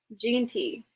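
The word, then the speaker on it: Jeanty: Genty. Ashton. Genty.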